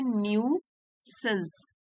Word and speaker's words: nuisance: phone a न्यू सेंस spelling देख लीजिए एन यू आई लेकिन इसको प्रोनाउंस करते हैं न्यू सेंस न्यूसेंस का मतलब होता